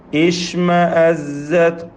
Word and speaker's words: اشْمَأَزَّتْ: അപ്പോൾ ഒരാൾ ഓതുകയാണ് وَإِذَا ذُكِرَ اللَّهُ وَحْدَهُ اشْمَأَزَّتْ قُلُوبٌ അവിടെയൊക്കെ നിർത്തിയാൽ പിന്നെ ഇഷ്മഅസ്സത് ഖുലൂബുല്ലദീന ലാ യുഅ്മിനൂന ബിൽ ആഖിറ. അങ്ങനെ ഇഷ്മഅസ്സത് എന്ന് എടുത്തോതാം. ഷീന് തഫശി ഉള്ള അക്ഷരമാണ്. ഇഷ് എന്ന അതിൻ്റെ ശരിയായ ഉച്ചാരണം. അതുപോലെ ഇഷ്മഅസ്സത് സീൻ്റെ സഫീർ, താഇൻ്റെ ഹംസ്.